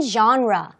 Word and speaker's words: genre: 자, 그럼 첫 번째는 genre. 예술 작품의 장르라고 하죠. 발음이 조금 달라요.